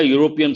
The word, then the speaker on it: European: at the second example he lives in a european city here it begins with our letter but the sound how do we pronounce the word you ya sound that is